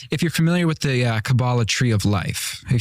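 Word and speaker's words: Kabbalah: Um, and I've been accused many times of being in Cabala. I don't know how to pronounce it. I'm an Episcopalian to It's Kabala.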